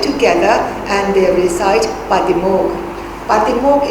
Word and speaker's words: Patimokkha: Patimokkha is in Pali.